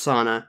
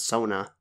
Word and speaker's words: Sana: It's pronounced Sana. It's not Sona, like Ink Sona.